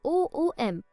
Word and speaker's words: Omkar: Omkar, pronounced as OOM, from deep down the larynx resonating like sounding of a large bell.